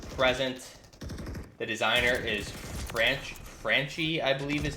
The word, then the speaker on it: Franchi: since 1979 through present the designer is franch franchi I believe is how you pronounce it again it's an Italian company design